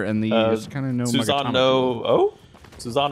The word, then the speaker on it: Susanoo: the kind of no Susano O? Susano O. I still don't know how to say that name, but Susanoo. Yes, that one. Well, I mean, I think that both O's are pronounced.